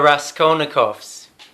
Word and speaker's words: Raskolnikovs: absolutely out of context well first of all pronounce the band name correctly there Raskolnikov's tell me where do they come from crime